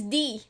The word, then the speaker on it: Dy: read it it's not it's d that's right it's d not like i was saying